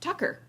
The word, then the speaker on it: Tucker: for the viewing public tacky's name is pronounced tucker tucker carlson tucky for